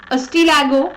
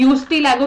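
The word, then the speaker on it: Ustilago: अस्टीलैगो, जिसको काफी लोग यूस्टीलैगो प्रोनाउंस करते हैं, इसको हम बोलते हैं अस्टीलैगो, स्मट और पुक्सिनिया रस्ट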